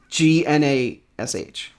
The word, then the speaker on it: Gnash: This is Nash, spelled with a G. Wait. Yeah, because he's with the Nashville Predators. So, like, I don't know. It's Gnash. Like Ganache. Like Ganache.